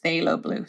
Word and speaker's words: phthalo blue: and I pronounce it phthalo blue the pH is silent and then I also